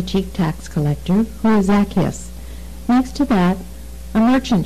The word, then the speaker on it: Zacchaeus: This is the story of Zacchaeus, or as some pronounce it, Zacchaeus.